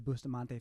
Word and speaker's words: Bustamante: Bustamante?